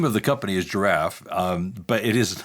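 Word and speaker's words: Jirav: ask the the name of the company is giraffe um but it is not spelt as you would expect it's spelled j-i-r-a-v i have to ask why that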